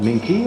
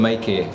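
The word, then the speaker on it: Mainqué: do you call that minky oh it's called Mikey Mikey yeah you don't really pronounce the end uh it's it's incidentally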